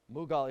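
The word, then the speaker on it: Mughal: saah Jan and was led by Ethan mugal mugal is correct led by Akbar the Great and sorry for those mispronunciations you got it anyway Kathy Ames gives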